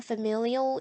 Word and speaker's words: familial: Extra 바깥이 여기 familial이라고 발음되거든요. familial. 근데 익숙한이라는 뜻의 형용사도 familiar. Familial familiar 굉장히 비슷하죠.